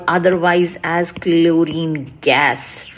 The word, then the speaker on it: chlorine: For chlorine, we don't say chlorine, right? So the H is silent.